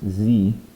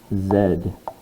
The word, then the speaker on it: Z: but the english alphabet this letter is not pronounced z it is pronounced zed and that comes from